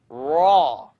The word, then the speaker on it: ر: Raw. The issue here is I don't want you to O your mouth. I'd rather you not do this. Raw. Don't use your lips to pronounce raw.